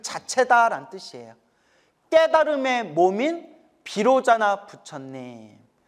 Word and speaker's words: 비로자나: 깨달음의 몸인 비로자나 부처님. 비로자나를 인도 산스크리트어 원음으로 바이로차나라고 해요.